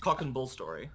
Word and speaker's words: cock and bull story: No, cock and bull story is how you say it. Yeah, that's what I said. No, you put emphasis on story.